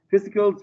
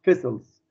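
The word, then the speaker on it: vesicles: سينابتيك فيسيكل ماشي او فيسلز تلفظ على جهتين، ممكن تلفظ السي ممكن تكون السي سايلنت، في ناس بيلفظها فيسيكلز في ناس بيلفظها فيسلز، فوارد على اللفظين.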